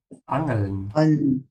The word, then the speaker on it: Angeln: Yeah, be careful with the A sound. Open your mouth wide. It's not an, it's an. Angeln.